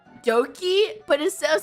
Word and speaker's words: Doki: it's spelled, it's like Doki, but instead of spelling with a D, they spelled it with a B or some shit, but it's also still pronounced Doki.